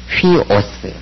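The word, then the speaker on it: υἱός: 쉬죠 13번 호스 호스 14번 휘오스 위가 아니라죠 거친 수표입니다 워스 15번 토 토이 그렇게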